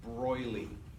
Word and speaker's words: de Broglie: Do not pronounce the G. It's Broglie with like a Y.